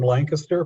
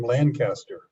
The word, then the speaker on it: Lancaster: So I'm from Lancaster, Pennsylvania, but a lot of people look at that and say, "Oh, you're from Lancaster."